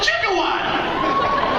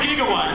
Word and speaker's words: gigawatt: the hell is a jigat it's gigawatt you guys know that it was gigawatt they were saying jigat because we didn't know back then that it's a hard G uh welcome how you